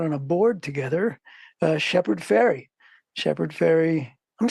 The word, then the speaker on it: Fairey: We're on a board together, Shepard Fairey. Shepard Fairey. I'm saying it right? It's not. It sounds like the boat that goes across the. Yeah. Yeah. People always want to say Farley, Fairey. No, it's just like Tooth.